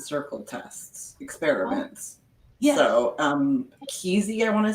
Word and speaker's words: Kesey: So Kesey, I want to say how to pronounce it.